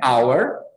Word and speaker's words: hour: An hour e a horrible. Entenderam aí? Por que disso? Ó? Horrible, esse H aqui tem som de R. E aqui o H é mudo.